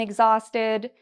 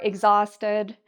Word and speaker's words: exhausted: You'll also notice that there's a part I'm saying louder and longer. That's this middle part here.